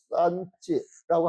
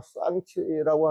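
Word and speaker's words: Sanchi: 근데 우리가 목적지가 산치인데, 원래 그 산치라고 하기도 하고, 쌍치라고 하기도 하고, 니은자, 이응자 그 중간 발음이 난대요, 보면.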